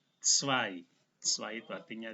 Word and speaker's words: zwei: EI, sekali lagi EI dibaca I, Z dimulai dengan T dan S, jadi cara bacanya zwei.